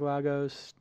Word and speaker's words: Lagos: San Francisco, New York, Lagos. Lagos? Am I pronouncing it?